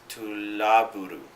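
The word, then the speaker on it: トラブル: to an English-speaking audience, because we pronounce love as love, when a Japanese person would pronounce it labu, and so it's tulaburu, which means trouble, and that's the anime in a nutshell.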